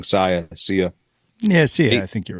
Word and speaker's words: Sia: I always say her name wrong. Sia.